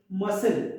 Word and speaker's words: muscle: Now silent C letter words like muscle. We don't say muscle, it's muscle. So whenever CLE comes, so your C will be silent. So we should say muscle. Don't say muscle, right? Muscle is the right pronunciation.